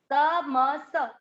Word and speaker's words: तमसः: तमस, स में अ की मात्रा विसर्ग को ह, तमसः फलम, फ पूरा और ल में आधा म, फलम।